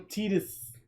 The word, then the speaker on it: Tidus: I'm gonna call him Tidus, like Kingdom Hearts says Titus is pronounced.